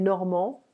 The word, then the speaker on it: Normands: Les Normands, attention, on ne prononce pas le D.